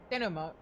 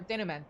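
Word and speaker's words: denouement: Which is why we must bring this tale to its uh denom or denment before our own hand or by our own hand. I don't think that T is supposed to be pronounced, but oh well.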